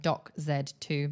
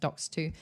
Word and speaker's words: Docs 2: It's like Doc Z2, but it's pronounced Docs 2.